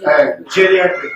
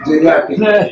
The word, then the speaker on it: geriatric: So please, and is it correctly pronounced as genetic? Geriatric. Geriatric.